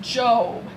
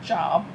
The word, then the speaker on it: Job: man named job and by the way you pronounce it job not job so we aren't sure if this is a